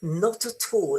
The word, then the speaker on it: not at all: You see that this not at all is nice and there is no stress.